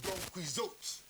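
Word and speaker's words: Don Quixote: normally pronounced Don quiz huh is normally pronounced Don quot you know you it you know the doniz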